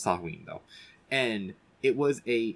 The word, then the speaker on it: Samhain: Okay, it's pronounced Samhain though, and it was a celebration of the